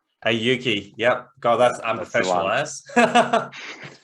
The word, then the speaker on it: Auki: Please, it's just pronounced Auki. Auki.